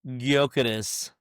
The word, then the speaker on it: Gyökeres: right," and then I finally hear how it's pronounced, and I'm like, "This is Gyökeres.